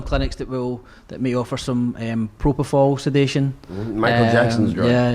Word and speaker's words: propofol: Don't you find that bizarre that Michael Jackson was addicted to how do you pronounce it? Propofol. Propofol.